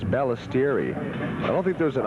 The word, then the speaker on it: Balistreri: You know, I think it's Balistreri. I don't think there's an R in there. I think it's, I got Balistreri. I guess T-I-E-R-R-I. I think you're right. Balistreri. Pronounced Balistreri.